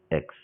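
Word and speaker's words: riz: to here it's rice, Rix. You don't pronounce it as rice. You pronounce it as re. You remove the last consonant.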